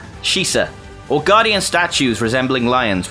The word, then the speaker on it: Shisa: Growlithe and Arcanine are suggested to be based on the Japanese dog statues known as Shisa. Sorry, I pronounced that wrong, that's the place where you vape. Shisa, or guardian statues resembling